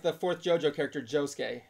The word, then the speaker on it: Josuke: like always silent it's the U is silent yeah it's like the fourth Jojo character josuke not Joe Souki Jessica Oh Sasuke Sasuke